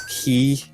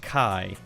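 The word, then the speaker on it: χ: a letter pronounced as key which is also why the X blade is called yeah it's like Chi but like they pronounce it in Japan as key oh which is supposed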